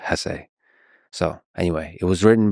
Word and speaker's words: Hesse: And by the way, please allow me this pronunciation of his last name. I've heard some people say Hess, but my whole life I've always said Hess.